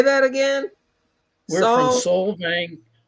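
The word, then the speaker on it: Solvang: We're from Soul Vang. Soul Vang, California.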